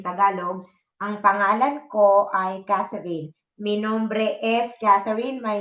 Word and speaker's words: Catherine: Mi nombre es Caterine and my name is Catherine in English. See the difference? All the people write my name in this spelling. Caterine. And they not pronounce it as Catherine.